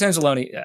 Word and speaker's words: Anzalone: So Alex Anzalone, I'm pronouncing that right. It's like Abalone. I believe so.